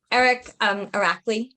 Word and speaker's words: Irakli: Irakli, right?